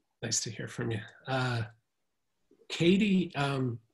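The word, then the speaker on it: Cady: Katie just sounds like a Texas name to me. That's just well, the way you spell it, C-A-D-Y. Yeah. And there is a Katie, Texas, I believe, but it's spelled differently.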